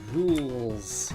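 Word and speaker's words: Rouxls: Is this its pronounced rules from Delta Rune chapter 2? That's funny. Yeah. No, definitely. It's pronounced rules.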